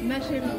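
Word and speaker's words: ma chérie: 마쉐리. 어? 제가 본 애피티. 마쉐리. 마쉐리. 마쉐. 아, 이거 이게 어려워. 마쉐. 이게 너무 어려워. 마쉐. 프랑스 알 발음.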